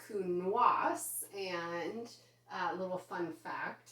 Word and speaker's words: Counoise: Well, the silent E in French makes your S say S. So this is, instead of Counoise, it is Counoise.